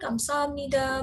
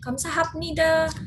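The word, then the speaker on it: 감사합니다: kan Kamsahamnida ya kan kita menyebut tanyakan kamsamida bukan Kamsahamnida tapi tulisannya Itu dia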